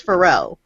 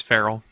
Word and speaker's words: Farrell: way as you do, and he says Pharrell. No, So it's Farrell. Like a cat. Yeah. Farrell.